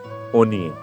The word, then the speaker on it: অন্নে: দেখো, প্রথম যে শব্দটি দেওয়া আছে অন্নে, এই অন্নে শব্দটি শুদ্ধ সংস্কৃততে দেখো আমি এখানে লিখে দিয়েছি অনিয়ে।